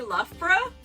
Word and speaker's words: Loughborough: Now, if you've never heard the name of this place, how would you guess it's pronounced? Did you say Loughborough?